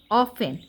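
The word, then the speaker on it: often: অফ টি ই এন অফেন এখানে টির উচ্চারণটা হবে না জাস্ট ও এফ ই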